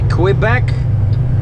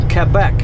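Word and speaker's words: Québec: they pronounce it like I always say quit back because it's qu right quickly quick but in France it's kept back Norwest I hate those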